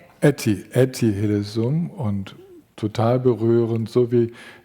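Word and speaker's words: Etty Hillesum: Glaube diese jüdische Frau, die freiwillig ins KZ gegangen ist, obwohl sie hat fliehen können, die heißt Netti Hillsum. Habe ich das richtig ausgesprochen? Etiesum.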